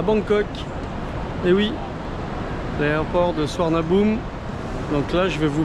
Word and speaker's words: Suvarnabhumi: Donc je vous ai dit oui, on a Swarnabou pour euh on a tous appelé ça une fois dans sa vie suivarnabumi et en fait les Thaïlandais ils prononcent ça Swarnabou.